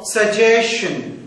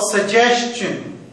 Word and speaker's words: suggestion: a t o but the last syllable of the word suggestion would be pronounced as the last syllable of the word question yes the last syllable